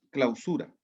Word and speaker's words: clausura: vamos a ver primero clausura se diría clausura si si usted tuviese acento en la primera no tiene acento en la primera por lo tanto es clausura y clausura operacional ok